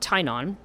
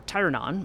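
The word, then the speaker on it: Teyrnon: want to talk about tainan um or uh who is the um or tyrannon i think is how you say his name so the her child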